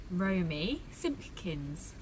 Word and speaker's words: Romy Simpkins: So how do we pronounce your full name properly? It is Romy Simpkins.